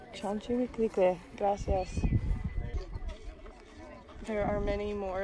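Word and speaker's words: Chalchiuhtlicue: Her name is pronounced Chaletuklique. Chalchiwiklique. Chalchiwiklique.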